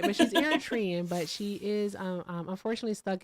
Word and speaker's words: Eritrean: Eritrean.